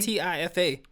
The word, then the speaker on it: Tifa: It's spelled T-I-F-A, but it's pronounced Tifa.